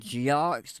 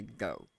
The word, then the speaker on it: Geaux: And now I know it sounds like Geox, but in the Cajun pronunciation, it's actually go. Essentially, the X is silent.